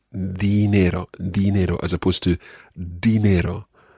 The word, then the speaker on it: dinero: Try to make sure that you've got that soft D sound at the beginning of that word. El dinero. El dinero. Muy bien, muy bien. You should make sure that your tongue comes between your teeth when you're saying it.